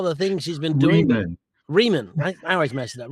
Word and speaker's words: Rieman: So, welcome Reman. Thank you. Spelled like Ryman.